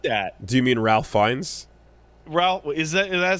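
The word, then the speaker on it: Fiennes: Um, what's up with discount Ralph Fiends as the inkeeper? What is up with that? Do you mean Ralph Fines?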